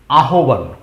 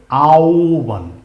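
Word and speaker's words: আহ্বান: মনে হচ্ছে উচ্চারণ হবে আহবান কি মনে হচ্ছে যে আহবান কিন্তু একচুয়ালি না এটা আহবান হবে না এর উচ্চারণ হবে আওবান আ ওবান সরাইয়ার পরে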